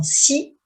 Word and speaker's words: six: Nous partons dans 6 semaines. J'ai réservé mes billets d'avion pour la France. Nous partons dans 6 semaines.